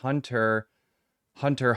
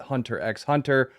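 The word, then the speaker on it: Hunter × Hunter: Japanese call Hunter x Hunter Hunter Hunter. The X is silent, which I found very interesting because every English speaking person calls it Hunter x Hunter.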